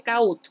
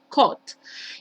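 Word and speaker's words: caught: pasado simple sería hot no se pronuncie cautos por esta casa somos el cot y pasado participio coat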